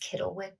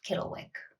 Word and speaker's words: Cittlewick: Next, Cittlewick Green, and thank you to Amy from Thread Gremlins for telling me that it is pronounced Cittlewick with a hard K sound.